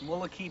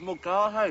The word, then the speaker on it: Mulcahy: It's Mullicky, Barry. No, that's not. It's Mulcahy.